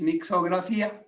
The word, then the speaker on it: Mixografia: Because the word was difficult to pronounce, we take out the T, and the name is Mixografia.